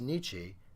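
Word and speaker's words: 日: Now, the first kanji here is pronounced nichi, and the second kanji is pronounced hon.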